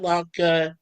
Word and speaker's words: Loc: Is it pronounced lock or loke? either or is fine. Okay, It's I grew up as Locke. But my loke. French teachers and my the Catholic schools are always been Loke.